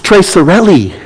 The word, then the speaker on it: Tre Sorelle: It's Tre Sorelli. Did you know that? They were pronouncing in a football game. I text Mike. I'm like, hey, are they pronouncing that right? He's like, yeah. And I'm like, oh my gosh, I've been saying it wrong.